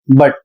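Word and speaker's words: but: और दूसरा शब्द है बी यू टी। इसको पढ़ते हैं बट।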